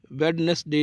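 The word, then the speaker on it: Wednesday: डी इज़ not pronounced in following common words. Handkerchief इसको बोलेंगे, hand नहीं बोलना है। और इसी तरह वेडनेसडे नहीं बोलना है। इसमें दोनों में जो डी है वो साइलेंट है।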